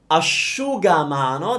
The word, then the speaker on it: asciugamano: Asciugamano. That's the word for towel, okay? It's asciu. As in, oh, I'm not wearing shoes, so I shouldn't show you.